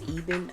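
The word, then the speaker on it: Ebin: The Even. I think it's Eben. I think that's how you pronounce it.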